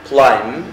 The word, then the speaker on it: climb: examine يفحص test يختبر climb البي هنا لا تنطق silent يتسلق chase يطارد answer